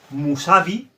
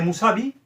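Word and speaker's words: Mousavi: La u escrita como vocal se lee u, pero la u escrita como consonante se lee como una v. Musabi. Esa V de Musabi se escribe con la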